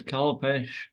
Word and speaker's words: Kalpesh: So next on the list is Kalpesh. Wow. I'm assuming that's how you pronounce it.